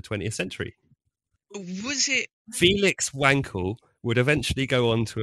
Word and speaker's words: Wankel: very much aware that it's going to be pronounced vancl or something like germans but no i'm calling him wankel because that's that's that's what people call the engine that's what people know him as he's mr wankel so that's what we'll